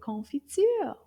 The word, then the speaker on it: confiture: Combien de syllabes dans le mot confiture? Confiture. Oh, trois syllabes.